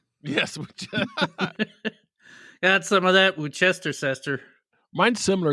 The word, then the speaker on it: Worcestershire: I think my mom called it Wooster. Wooster is probably a better word than Worcestershire, or whatever it's called. Worcestershire. Yes. Got some of that Worcestershire.